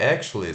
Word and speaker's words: actually: L-L-Y, como se fosse actually, mas pronuncia ac, ó, apóstrofo indicando que a primeira sílaba é a tônica, ac. Aí é o T, o longo, sh, u, chu, actu, chua, actual, e L, I longo, li, actually, Actually.